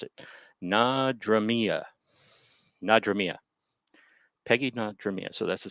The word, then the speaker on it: Nadramia: Gilmore and Peggy Nadramia. This is a hard one to pronounce. I'd like to see you try and pronounce it. Nadramia.